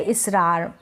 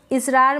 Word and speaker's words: इसरार: के लिए एस है, क्योंकि जैसे हम इस नाम को प्रोनाउंस करें इसरार, तो इस स के साथ अ का उच्चारण नहीं है, स को हम ज़्यादा खींच के इसरार ऐसे करके नहीं बोल रहे हैं, तो स के